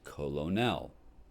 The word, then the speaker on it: colonel: It's not pronounced the way it's spelled, right? It should be pronounced colonel.